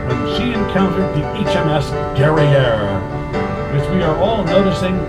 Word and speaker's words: Guerriere: she encountered the HMS Guerriere, which we are all noticing rhymes with the word derriere, which in fact was